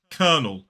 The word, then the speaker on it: kernel: So it's not kernel, it's kernel. And make sure you're getting that vowel sound right in the second syllable. It's that vowel sound, the same vowel sound we see in the word bird.